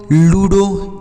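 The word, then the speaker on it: ludo: एल यू डी ओ लूडो एल य डी ओ लूडो तो ओ last में है तो ओ की मात्रा हो गया जड ई आर ओ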